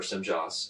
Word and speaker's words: Semjase: Her name is Semjase, or Semjas. Semjas is how he pronounces it.